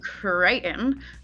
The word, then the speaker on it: Crichton: I'm Crichton, assuming Okay. that's how you say it with my accent Yeah, because I Crichton.